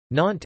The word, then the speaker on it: Nantes: Nantes, N-T, listen, Gallo, Nantes or Nantes, pronounced N-T or N-T, Breton, Nouent, pronounced N-Went,